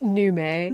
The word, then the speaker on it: Nomi: It's pronounced Nume, Babji.